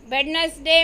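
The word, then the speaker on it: Wednesday: first वेडनेसडे में D, second sign में जी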